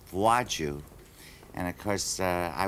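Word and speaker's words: Władziu: I'm very well thank you your name is Vlad Zio Valentino is that the right way to say almost got it right I actually never used the name it's pronounced vaju and of course uh I wasn't able to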